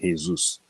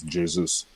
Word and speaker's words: Jesus: is jesus because obviously he's not from spain so you don't say jesus so he's actually people in the chat were busy telling me to pronounce jesus no that's wrong if he was spanish then that would be right but he's from brazil so this is jesus um i don't i